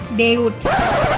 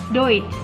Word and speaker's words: Deutsch: Kebanyakan orang menyebutkan Deutsch itu adalah Deutsch. Salah ya. Yang benar adalah EU dibaca OI. OI. Jadinya Deutsch.